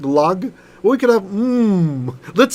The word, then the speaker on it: Lag: Or you could just call it Like there's Lag BaOmer, the mystics celebrate on the 33rd, because it's Lamed Gimel, so it's pronounced Lag.